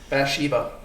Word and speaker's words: Bathsheba: So she's to be fair, but they only So, anyways, Bathsheba is how you say it, cuz.